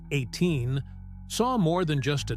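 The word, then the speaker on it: A'TIN: These fans who called themselves Ain, pronounced 18, saw more than just a talented group.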